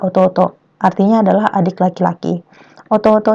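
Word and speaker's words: 弟: Onyominya atau cara baca Cinanya adalah tei dan dai. Untuk kunyomi, dia adalah ototo.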